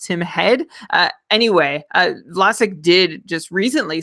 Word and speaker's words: Tim Heed: sustainable from Vlasic or Tim Heed, or as I think our Swedish friends have told us, it's pronounced Tim Head.